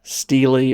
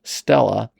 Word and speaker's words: stele: What is a Stila? A Stila, which is sometimes pronounced steelely or maybe even Stella, is a stone monument that ancient rulers erected to commemorate victories, record laws, or mark boundaries.